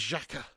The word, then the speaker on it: Xhaka: their Danny care bias is coming on you pronounce his name always struggle that with that one yeah it was Chaka Alex is free no sounds about right yeah